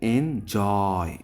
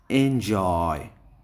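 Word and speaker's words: enjoy: তাহলে এনজয়, এই জয়টা হলে স্ট্রেস দিতে হবে। তাহলে আমরা যখন উচ্চারণ করব এনজয়, এনজয় এভাবে। ফিকশন, ফিকের পরে আমরা জোরে স্ট্রেস করব।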